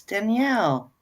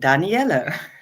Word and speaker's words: Danielle: the Fay course is Danielle and Danel yeah how you say it on English or on Dutch it's all fine so good evening all